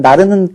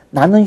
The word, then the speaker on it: 나는: 조항이라고 할 수가 있겠죠 자 나는 슈퍼맨 그런데 우리는 나는 슈퍼맨이라고 안 할까요 자 왜 하필이면 나르는 그런 그 잘못된 발음 습관이 생겼을까요 나는 슈퍼맨 하면 어법으로 맞는데 의미적으로 우리가 어떻게 받아들여 지냐 뭐 영어로 하면 아 A 슈퍼맨처럼 잘못 오해를 하는 거예요 그러니까 사람들이 그 부분에서 나르는 나르는 이렇게 어 발음하는 것이 습관화